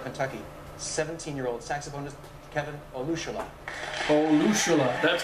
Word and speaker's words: Olusola: Olusola, that's how you say his name.